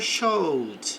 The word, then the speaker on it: showed: Então, the teacher showed. Então, o teacher mostrou, exibiu, aqui não pronuncio o e a chart, um gráfico of the deira, dos dados.